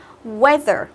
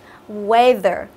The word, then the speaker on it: weather: Weather, weather. Health, health. Death, death. Ok, đấy thì EA ở đây mình đọc là âm gì các bạn? Mình đọc là âm E, đúng không?